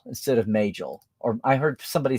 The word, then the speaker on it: Majel: FASA should be pronounced like NASA. That's what I've always thought. But then, I still hear people say Magel instead of Majel.